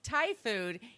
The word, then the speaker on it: Thai: I read or heard it somewhere where he pronounced Thai food as thigh food. And if he went on a date with a girl and she said, no, it's Thai food, he would figure out